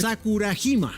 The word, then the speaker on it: Sakurajima: Sakurajima.